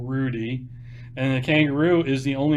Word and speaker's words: Roody: It's spelled Roody, for those of you who don't know, like a kangaroo, Rudy.